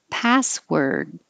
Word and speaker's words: password: t passport and 11 password and now it looks like an or but it sounds like an er password we don't it's spelled with a w but we don't say the w it just sounds like r rests wrestles wrestles meet